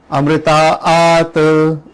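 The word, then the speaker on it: अमृतात्: लेकिन लास्ट में अगर आप देखोगे अमृतात जो है तो वहां पे डबल लाइन है एक्चुअली, अमृतात, इस तरह से प्रोनाउंस होगा वो।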